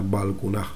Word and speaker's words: Balkuunah: evidencia clara de que no se pronunciaba ya esa T y se quedaba como una aspirada igual que aquí. O sea, Balkunaj.